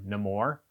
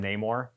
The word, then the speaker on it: Namor: characters pronounce it differently he pronounces it himself as um no more uh and everyone else calls him Namor and I don't understand